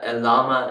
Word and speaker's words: Llama: one it just says llama stand for large language model meta AI. So um uh you can see the L is silent but uh llama is stand for large language model AI.